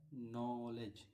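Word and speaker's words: knowledge: नॉलेज। क्या है? नलेज। के एन ओ डबल एल इलेज। यहां भी क्या है? साइलेंट है।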